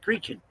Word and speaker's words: Creighton: But over there, Creighton is not pronounced Creighton, it's pronounced Creechin.